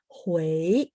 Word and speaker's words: Huawei: bulan terus nomor 22 Wei UI bacanya ui jadi bacanya Huawei nada 2 ya Oke